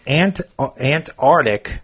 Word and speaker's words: Antarctic: Antarctic instead of Antarctic. Or the Arctic instead of the Arctic. People forget the C.